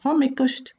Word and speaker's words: hommikust: might just say the shorter version comic or homikost homik homikost afternoon it's nice to greet does